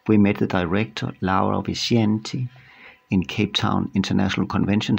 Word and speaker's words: Vincenti: Vincenti. It is actually Italian pronounced. Italian. Yeah. Laura Vincenti, who is the director of Cape Twon Art Fair.